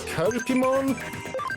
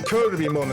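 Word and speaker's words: Cherubimon: I think it's Kerpimon. No, I think people have mispronounced it to Kirby-mon at times.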